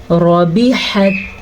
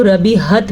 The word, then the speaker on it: ربحت: کے اوپر زبر ہے۔ ہا کا تلفظ ضرور سیکھیں، اکثر لوگ ربیحت پڑھتے ہیں تو وہ یہ والی ہا بن جاتی ہے۔ اللہ پاک